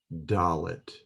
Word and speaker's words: daleth: The next letter that we will learn is DALETH. DALETH. It is pronounced as a hard D, as in day, and it depicts a door.